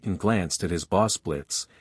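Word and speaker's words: Blitzø: glanced at his Boss Blitz the O is silent walking inside with a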